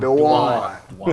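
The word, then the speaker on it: Duane: Dwan Dwan. There we go. I knew how to spell it, but I got too much southern.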